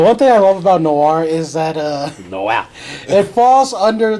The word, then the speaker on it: Noir: Oh, so Noir it's is noir. French. Okay, yeah. I know. I thought I just wasn't sure. Well, it's French for black. The one thing I love about Noir is that it falls